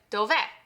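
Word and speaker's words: dov'è: Whereas in this word, we have an accent on the e. So that tells me that that's where the stress is going to go. And this sounds like dove.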